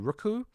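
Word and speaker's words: Roku: the service called rook i don't know you pronounce it r o k u rooku for four dollars in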